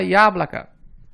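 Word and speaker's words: яблоко: Na palavra iáblaca, observe que a letra IA inicia a palavra e é a sílaba mais forte. Portanto, ela é pronunciada como se fossem duas letras, I e A, iáblaca.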